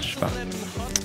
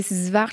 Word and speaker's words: Szwarc: monde écorche ce nom tout le monde bute sur son nom j'ai j'ai des j'ai swarz Schwarz c'est très dur à dire et moi j'essaie de rectifier et c'est c'est Schwarz et vous le prononcez